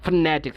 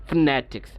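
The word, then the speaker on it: phonetics: যেমন দেখেন ফনেটিক্স, আমি নতে একটু ছাপ দিয়ে উচ্চারণ করছি, ফনেটিক্স, ফনেটিক্স।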